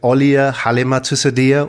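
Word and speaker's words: Auliah Halimatussadiah: female entrepreneur I want to introduce you to alia Halima to cydia also known as welcome to the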